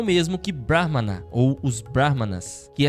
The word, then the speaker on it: Brahman: Então de novo, Brahman com Não é a mesma coisa que Brahha, que é o deus, o criador, né, que aparece na iconografia indiana com quatro cabeças.